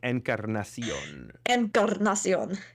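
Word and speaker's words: Encarnación: name incar Incarnation basically incar little Spanish lesson for you incar andion you don't have to roll your R because it's not a Double R but yeah it's good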